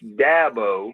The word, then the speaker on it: Dabo: It's dabbo as in apple.